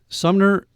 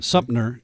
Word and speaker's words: Sumter: Sumner. Oh, this is news to me. Sumter. Yeah. I can't pronounce it.